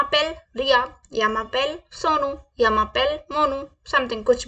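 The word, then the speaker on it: je m'appelle: रिया सो मैं कैसे बोलूंगी शम पेल रिया यमा पेल रिया य मा पेल इट्स य मा पेल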